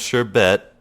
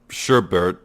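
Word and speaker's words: sherbet: just so you know sure BAE and sure bet or sorbet and sherbert are both valid pronunciations I think I was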